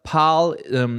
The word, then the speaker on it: PAAL: One of them is PAL. If you don't know that project, it's spelled PAAL.